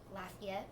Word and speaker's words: Lafayette: 2 stops in Louisiana and New Orleans and Lafayette. I always say that wrong. You pronounced it right.